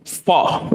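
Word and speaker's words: faux: can't I don't know how because it's French they kind of make it silent the X okay um by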